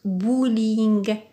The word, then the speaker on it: bowling: tension ici bowling bowling c'est toujours un mot d'origine anglaise ça se prononce bowling très bien donc nous